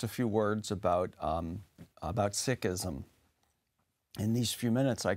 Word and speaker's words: Sikhism: moments what is Sikhism Sikhism sometimes in English people pronounce this as Sikhism but actually the probably the better pronunciation closer to the to the Punjabi name of the religious tradition is Sikhism the word